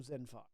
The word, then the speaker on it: Xinphar: It's spelled Xinphar. Okay. Zinfar.